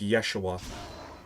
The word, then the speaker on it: Yeshua: so the name is actually apparently for a time supposed to be pronounced Yeshua.